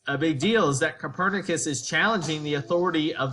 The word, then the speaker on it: Copernicus: guy named Nicholas cernus not Copernicus like some fools like to pronounce it it's cernus a Polish astronomer um